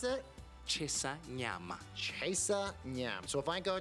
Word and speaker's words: Chisanyama: And how do you pronounce it? Chesanyama.